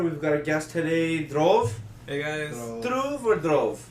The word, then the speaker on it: Dhruv: the thing is so my name is based on the pulse jar and we told you this yeah yeah so it's drove tara tara is a star so basically everyone can